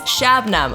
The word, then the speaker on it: Shabnam: cuz I was like it's shabnam okay this is how you say it this is how you pronounce my name so please actually say